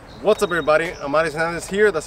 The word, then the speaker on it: Amauris: Amauris Hernandez here. That's how you say my name, Amauris.